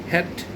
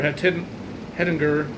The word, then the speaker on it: Hettinger: It's in I think it's pronounced Hettinger, or Hettinger County, North Dakota, which is, again, down here instead of up there.